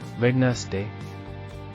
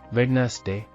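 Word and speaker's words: Wednesday: silent letter P psychology ವೆಡ್ನೆಸ್ ಡೇ ಬುಧವಾರ silent letter ಡಿ ವೆಡ್ನೆಸ್ ಡೇ ಇದು ಇಂಗ್ಲಿಷ್ನಲ್ಲಿ ಸೆಲ್ ಅಂಡ್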